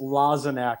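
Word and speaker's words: Lozinak: And the correct pronunciation is Lozenak for everyone listening out there. A lot of people don't know it's Lozenak.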